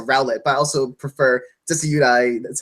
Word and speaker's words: Decidueye: Well, I prefer Rowlet, and I'm sorry, I prefer Litten to Rowlet, but I also prefer Decidueye. That's how you pronounce him.